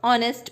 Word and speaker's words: honest: यहाँ पे साइलेंट रहता है, हम ऑनेस्ट प्रोनाउंस करते हैं।